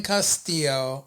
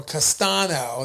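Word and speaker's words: Castaño: Geral Charlo versus Brian Castillo. Castano and or Castano. That's how you say his name.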